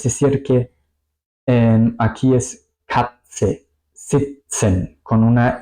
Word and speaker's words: sitzen: Sitzen, sitzen, estar sentado, estar sentada. Aquí podéis ver, se pronuncia más o menos como una T y una S, ¿ok? Es decir que aquí es Katze, sitzen, con una S muy larga.